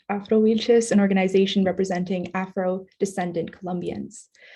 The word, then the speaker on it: Afro-Wilches: She is a member of Afro-Wilches, pronounced Afro-Wilches, an organization representing Afro-descendant Colombians.